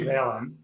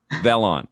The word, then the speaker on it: Velan: new experience with vlon is it how do you say it vellon or vlon it's actually valen velon okay i'm i probably